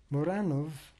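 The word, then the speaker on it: Muranów: Muranov, M-U-R-A-N-O, with an apostrophe over the O-W, was an important Jewish section of Warsaw at the time.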